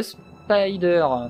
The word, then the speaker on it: SPDR: programmes qui s'activent notamment le spdr donc qu'on prononce également spy 2 ans donc le spyder donc il ya une